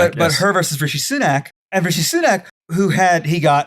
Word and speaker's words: Rishi Sunak: drinks yeah no I'm looking at it it's Richie sinek but her versus Richie sunac and Richie sunac who had he got he